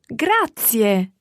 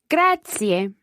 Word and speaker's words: grazie: thank you in italian grazie grazie and remember those three syllables there they're all run together quickly but there are three syllables grazier now that's a